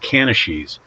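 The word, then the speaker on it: canities: which is what's in the industry it's called Canashese. It's not spelled that way, but that's the way you pronounce it.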